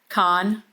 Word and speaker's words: Kahan: Khan. Just Khan. Just just one syllable. Yeah. K A Han.